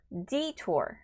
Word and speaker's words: detour: 자, 다음 거는 detour. 앞에 강세 있어요. detour. 이렇게 발음하시면 되고요. 뒷부분은 tour, OU 겹쳤죠. 발음 좀 길게 해주시면 더 자연스러울 것 같습니다.